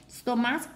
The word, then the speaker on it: stomach: Stomach, chữ này là đọc là k.